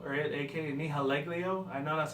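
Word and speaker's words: Nihilego: He looks like he's, like I said, he looks like Nahaglio, or a.k.a. Nihaleglio.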